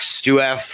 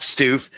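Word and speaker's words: Stuef: It rhymes with proof. Oh, there you go. Jack Stef found the found the treasure ostensively.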